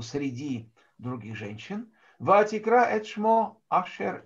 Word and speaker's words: Ашер: А имя Ашер, имя мужское Ашер, да, в ашкеназском произношении Ошер, то есть тех, которые, значит, жили на территории России, звали Ошер, а на Украине, соответственно, Ушер.